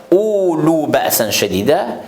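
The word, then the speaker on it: أولو بأسا شديدا: Dans le qira'at, surtout qira'at Coran Majid, récitation du Coran Majid, on ne peut pas prononcer le waouh ici. On ne prolonge pas le hamza avec waouh. On ne peut pas dire ulu ba'san shadida, mais le mieux c'est comment ulu ba'san shadida.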